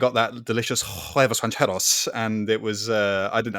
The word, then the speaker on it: huevos rancheros: Yeah, I don't think you're quite getting the pronunciation, the accent right there. Richard. Oh, whatever, you know. It's huevos rancheros.